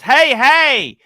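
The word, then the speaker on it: hej: voucher five dollars yoachi hija hedger is pronounced hey hey it is hello in Sweden my friend because his wife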